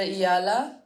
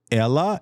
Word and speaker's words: Eala: Like all the people I would have said Alexandra Eala and they're like there's a Y. It was there's no Y. I know there's no Y, but like you're supposed to pronounce it like a Y.